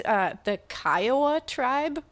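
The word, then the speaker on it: Kiowa: Clearly saw that it said heard that it said Kaioa. But you know how when you've pronounced something in your own head too many times wrong, negates it. Even after you hear the correct pronunciation, you just say, "So, I fell into that and I apologize, but it's the Kaioa tribe.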